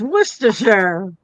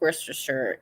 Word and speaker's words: Worcestershire: It's Worcestershire. It is pronounced Worcestershire in England.